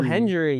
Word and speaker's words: Hendry: But uh this uh surprise guest was uh TNA's uh heavyweight champion believe in Joe Henry. Joe Hendry.